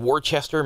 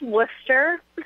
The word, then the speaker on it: Worcester: from today next Saturday at uh beatnick in Worchester Massachusetts is that correct it's pronounced Worcester I'm from Lal Massachusetts so um it's kind